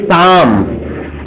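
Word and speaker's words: psalm: एक भजन था ए शाम, क्वेश्चन मार्क। PSLAM, इसमें बाबू P और L साइलेंट रहता है, इसलिए शाम पढ़ा जाता है।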